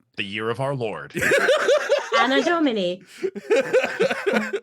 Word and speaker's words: Anno Domini: Anno Domini. Think of Anno Dome. It's a dome. Any dome. No.